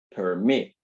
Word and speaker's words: permit: En el caso de permit, si escucha con atención, tiene dos sílabas. Permit. La sílaba que suena con mayor fuerza es la última.